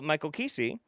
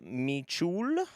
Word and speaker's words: Kesey: Michael Kesey, thanks for saying my name right. Most say Michul.